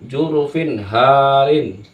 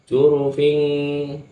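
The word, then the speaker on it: جُرُفٍ هَارٍ: adalah izhar jelas juru jurufin Harin jurufin jurufin Harin Bukan dibaca jurufing Salah itu jurufing yang benar adalah jurufin Harin jurufin jurufin Harin finnya itu jelas tanwinnya ini jelas karena bertemu dengan huruf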